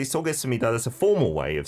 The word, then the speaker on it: 쏘겠습니다: Even though the last consonant is p, we don't actually pronounce it as p, but it's Sup. it becomes m sound.